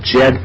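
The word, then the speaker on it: Djed: But she told me of this thing called the Jed pillar, and it's spelled D-J-E-D.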